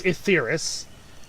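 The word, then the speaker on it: Etheirys: Well, I'm sorry for wanting to explore more of Asaris. It's first of all, it's Etheris. Etheris. I've heard it pronounced both.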